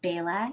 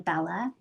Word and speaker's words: Bela: My name is actually pronounced Bela in Hindi. My parents, when we immigrated, people could not pronounce the name Bella. And so, which is crazy because now everybody is named Bella, and a lot of dogs and cats also. But it's Bela, and it's spelled Bela, and it means flowery vine in Hindi.